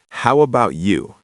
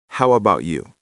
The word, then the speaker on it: how about you: It's 3 words, but we say it like one. How about you?